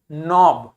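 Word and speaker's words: knob: हैं के लिखा है फिर एन लिखा है तो के को प्रोनाउंस नहीं करेंगे क्या हो जाएगा नोब क्या हो जाएगा नोब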